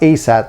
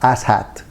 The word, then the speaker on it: ASAT: this gnl ASAT and it's pronounced ASAT not assat there's a lot of